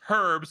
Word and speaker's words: herbs: But with this being and it's pronounced herbs because there's an H in it.